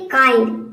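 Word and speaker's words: kind: हम आई प्रोनाउंस करेंगे, यानी कि इसको हल्का प्रोनाउंस करना है आई। जैसे कि देखिए यहाँ पे एग्जांपल है काइंड, के का हो जाएगा क और यहाँ पे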